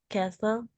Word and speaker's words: castle: There is a cafe next to the castle. Castle. There is a cafe next to the castle. Jadi T-nya hilang ya. Castle. Castle. Ya, cara bacanya gini. Castle. Castle.